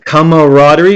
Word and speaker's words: camaraderie: now this one has come Rodri if you look at the spelling the spelling is a little bit hard but most people say it really fast it's more like camaraderie